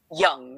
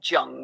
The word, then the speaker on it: Jung: It's pronounced young, not Jung with a hard J.